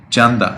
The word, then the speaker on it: Chanda: spell it t-a-n-d-a c-a-d-a Janda and the perfect pronunciation is yes perfect Chanda and do you know